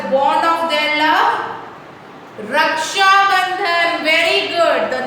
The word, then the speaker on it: Raksha Bandhan: बहुत big spelling है, easy way to learn is रक्षा, R-A-K रक्षा, रक्षा, बंधन, B-A-N बन, D-H-A-N धन, तो रक्षा बंधन.